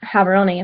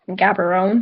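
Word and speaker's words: Gaborone: you said um the capital H batswana is habon if you said it Gabon because that's how it's spelled they would kind of get a little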